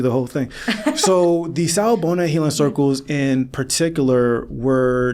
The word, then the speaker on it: Sawubona: Let me know if I'm pronouncing it wrong. Sawubona?